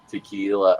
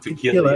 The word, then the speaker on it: tequila: Ah, If I smell tequila, I got sick. No. I want you to think about that. The pronunciation. You're pronouncing it wrong. It's not tequila. It's right. tequila.